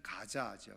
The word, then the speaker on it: 가자: 가사는 히브리어 발음으로는 사실은 조금 다르죠. 그래서 조금 더 히브리어 발음으로 하면은, 정확하게 발음하면 야차입니다. 아차라고 하기도 하고 야차라고 하기도 하는데, 이제 영어식으로 이제 표현하면 우리는 가사 이렇게 되어져 있지만 사실은 가자죠, 가자.